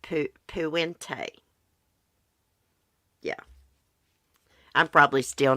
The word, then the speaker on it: Puente: And we're going to be doing a stream on Dorothea Puente.